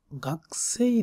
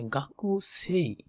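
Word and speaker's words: 学生: দ্বিতীয় নম্বর প্রশ্নে মীরা সান ওয়া, মীরা সান মানে মীরা সান, মীরা সান ওয়া গাকসেই দেশকা মানে গাকু সেই, এটাকে তারা বলে গাকসেই এরকম, গাকসেই, গাকসেই দেশকা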